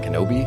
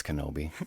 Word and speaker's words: Kenobi: is there kanabi i i believe it's kenobi oh okay i mean